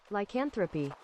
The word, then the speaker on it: lycanthropy: I searched for the pronunciation. Lycanthropy.